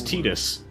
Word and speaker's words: Tidus: in like other final fantasy games and they pronounce it as tidus but part of one that's much bigger hey